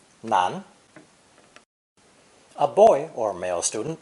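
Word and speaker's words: 男: land men and boys this character is pronounced second tone nan nan a boy or male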